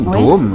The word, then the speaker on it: Dome: Un jour, et j'ai expliqué à quelqu'un mon nom de famille, Dome. Dome. C'est facile, c'est comme Tokyo Dome, donc en katakana, vous pouvez l'écrire aussi sans aucun problème.